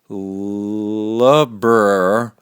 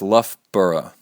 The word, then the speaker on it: Loughborough: Best wishes from Loughborough, and it's pronounced Loughborough.